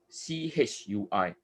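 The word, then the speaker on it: 吹: the action word of c-h-u-i tui c-h-u-i-tui okay so the key here is not to pronounce the word tui and instead it's called blow the candle because chui in mandarin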